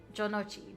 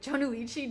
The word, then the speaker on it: Jonochi: Or Jonochi. Jonuichi? Jonochi.